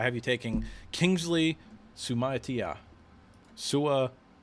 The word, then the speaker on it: Suamataia: Suamataia, I think is how you say it.